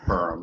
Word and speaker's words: Purim: It's pronounced Purim, thank you. just Purim, like that, like a cat purr.